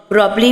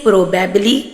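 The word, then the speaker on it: probably: प्रोब्ली प्रोबब्ली means शायद कुछ लोग इसे प्रोबेबबली प्रोनाउंस करते हैं जो कि रॉन्ग है। प्रोबब्ली इज the right pronunciation so said प्रोबब्ली प्रोबब्ली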